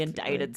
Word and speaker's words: indict: It's spelled I N D I C T, but that C is silent and it's almost as if there's an E at the end.